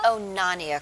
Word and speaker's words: Onania: How do you pronounce the name? Onania? The Onania Club.